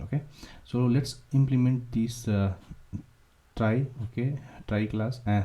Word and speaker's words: trie: Okay, so let's understand try. We will do the, you can say, prefix. We'll use tree. You can. Okay, so try pronounced as try.